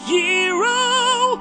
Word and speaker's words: gyro: going to get gyro although it's technically pronounced hero although I still want to call it a jro cuz it sounds cooler stomach dude are you